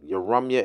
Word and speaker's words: Yaramyah: Yarumyah in Hebrew. That's how you say it.